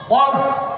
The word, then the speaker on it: কল্ব: এটার বহু বচন কুলুব। বলেন তো কি এক বচন? কল্ব উচ্চারণ ঠিক করবেন। অনেক পিসাব তালিম দিতে যায় ভুল করে, কয় কাল্ব। কাল্ব মানে কুত্তা, উচ্চারণটা কি হবে? কল্ব।